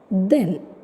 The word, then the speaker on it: then: But here TH is pronounced as then.